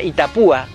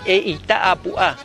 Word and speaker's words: Itá Apuá: Hoy día se pronuncia Itapúa, pero la palabra real es Itá Apuá, piedra redonda.